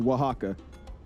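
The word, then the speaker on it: Oaxaca: We're going to Oh, uh, Wajaka again. It's spelled O Ax something something something something, but it's pronounced Wajaka beyond me.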